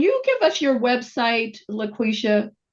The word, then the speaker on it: LaQuisha: Can you give us your website, LaQuisha? Did I pronounce it correct this time? Because I wrote it down. No, LaQuisha. it's LaQuisha.